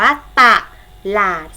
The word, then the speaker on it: ตลาด: ต่ำ คือ ลอ ลิง คำ นี้ จะ ออก เสียง 2 พยางค์ พยางค์ หน้า ออก เสียง ว่า ตะ พยางค์ หลัง ออก เสียง ว่า ล อ่าน ออก เสียง มัน นี่ หอย นำ นะ คะ ทำ นี้ จึง อ่าน ว่า ตลาด สังเกต ไหม คะ พยางค์